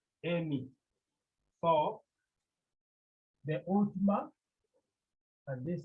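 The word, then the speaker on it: εἰμί: Remember, it has two syllables. The first syllable is A, the second syllable is me, Amy.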